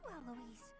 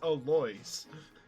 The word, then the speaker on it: Alois: Oh, it's you, Eloise. No, you're saying his name wrong. It's Alois. That's right.